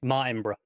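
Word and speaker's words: Martinbrough: It's because there's no extra O between the B and the R. Yeah. So it's just Martinborough.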